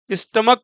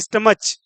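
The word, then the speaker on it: stomach: जाएगा ना कि मोनार स्टमक पढ़ते हैं ना कि स्टमच तो जब सीच का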